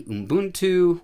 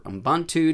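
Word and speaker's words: Ubuntu: here is Linux Mint another might be boon 2 or Ambon 2 depending on how you say it etc and then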